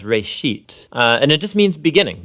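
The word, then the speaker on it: בראשית: of it's called Genesis Genesis comes from a Hebrew word it's pronounced for a sheet and it just means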